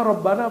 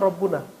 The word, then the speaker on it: Rabbana: mujarad kalau dia Mufrad rabbuna tapi kenapa dibaca Rabbana karena di depannya ada ya tapi enggak dibaca ya-nya disembunyikan saking dekatnya kepada Allah subhanahu wa taala maka dibacanya langsung Rabbana rabbaana asalnya nahnu Tuhan kami